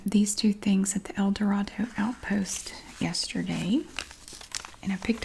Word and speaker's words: El Dorado: I know that a lot of people pronounce it El Dorado, but if you go there and you pronounce